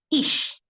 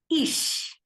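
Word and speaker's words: ich: in German it is Ish I would like to say once again the pronunciation of I in German is Ish yes in Canada is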